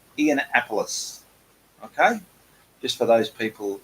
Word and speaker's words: Ianapolis: many weird and wonderful ways but it is pronounced e'en appleís okay just for those people who wasn't quite